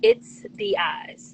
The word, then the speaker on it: itstheyez: Savage my Instagram is it's the eyes spelled i-t-s-t-h-e-y-e-z so when you try to pronounce it you're gonna try to say it's the No it's it's the eyes and where you from